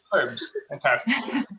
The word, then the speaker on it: herbs: do we say it is it like a silent h over there is that is that how yeah what do you say you say herb herbs all right i learned